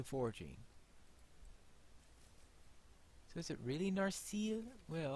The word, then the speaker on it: Narsil: Well, I suppose a long E may be. Actually, that seems to be putting the accent wrong, because I would thought it was Narsil, maybe. Because I thought that it wasn't, that it's the penultimate, the penultimate syllable that's usually accented.